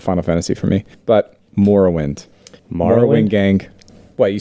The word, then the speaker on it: Morrowind: Fantasy for me, but Morrowind. Morrowind? gang. What you saying? This Morrowind? Yeah. Like bone marrow? Yeah. You mean marrow? No, Morrow? Morrow. Like tomorrow. Is it Morrowind? I say Morrowind.